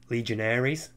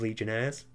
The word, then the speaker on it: legionnaires: and i realized it pronounced it legionaries instead of legionnaires and it really [